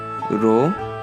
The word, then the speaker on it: Rho: Par contre, comme vous pouvez voir à votre droite, la lettre Rho se prononce comme la lettre R en français.